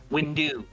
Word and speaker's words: Windu: No, it's Mace Windu. It's pronounced Windu.